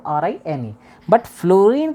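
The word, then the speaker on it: fluorine: आर आई एन बट फ्लोरीन का जो pronounce है एफ एल यूओ आर आई एन है फ्लूरीन लेकिन हम लोग सिंबलाइज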